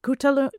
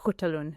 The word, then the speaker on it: Khutulun: No one really knows how to pronounce her name, but most places I saw was Coutalun. Coutun or Hutalun.